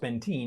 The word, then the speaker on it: Benteen: All right, but not spelt like Ben 10 at all and pronounced Benteen.